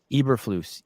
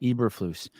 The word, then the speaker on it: Eberflus: Am I pronouncing that right? Eberflus. Eberflus.